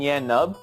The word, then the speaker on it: Nien Nunb: Oh, you mean Yan Nub? Yeah, that's his name. Is that his name? Yan Nub? Nub? It's spelled some weird way.